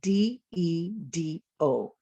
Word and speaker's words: dedo: finger, which is spelled D-E-D-O, and it's pronounced, look at me, dedo. Although I had 2 D's in there, the first D made a different sound, d, de, than the second D.